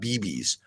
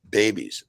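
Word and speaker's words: BEBBS: And it's pronounced babies, like a baby, right? Not BBs, babies.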